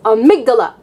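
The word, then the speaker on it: amygdala: that controls your emotions I call it amigdala because I think in Spanish it's amigdala and I thought of it that way but it's amigdala and well is it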